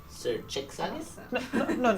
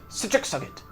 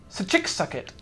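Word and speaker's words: Schicsokt: No, sir. Sachik-Sugget. Sir Chick Suggit. Yes. Would you like me to spell it in your common tongue? Please. Yes, I think he please. would like that. That is difficult. S-C-H-I-C-S-O-K-T. Sakitchika. Just like that. Sachik-Sugget.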